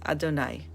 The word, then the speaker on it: Adonai: And what we learned was that there is only one way to pronounce all of these forms of God's name, and that is Adonai.